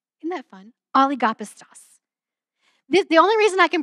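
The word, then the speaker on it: ὀλιγόπιστος: And that phrase, little faith in the Greek is this really fun Greek word that is oligopistos. Isn't that fun? Oligopistos. The only reason I can pronounce these well is because there's a feature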